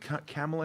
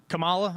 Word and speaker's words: Kamala: again i don't think uh uh is it camila harris she's how do you say her name